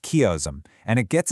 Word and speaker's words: chiasm: It's called a chiasm, pronounced chiasm, and it gets its name from the Greek